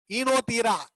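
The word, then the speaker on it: Oenothera: இப்போ ஈனோதீரா, ஓ சைலண்ட், ஈனோதீரா லாமார்கியானா.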